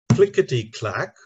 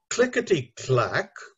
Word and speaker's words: clickety-clack: The interesting thing there is the first syllable and the fourth syllable are stressed. Clickety-clack. So it would be very unfair to the writer if you said clickety-clack, stressing the second syllable, or worse still, clickety-clack, right?